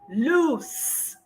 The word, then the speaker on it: loose: The second one is loose with an S.